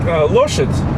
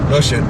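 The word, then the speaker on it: лошадь: Loshet. Смотрите. Loshitz? Loshet. Loshit.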